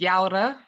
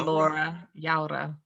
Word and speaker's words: Llaura: in the beginning yeah you can pronounce it as yara um or laura yeah with kind of a y sounding it originates from spain uh but my parents